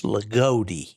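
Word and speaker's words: Loogootee: whoers pronounced that no it's l o o g o o t e e which sounds like lag goodi it's legodi legodi okay so anyway that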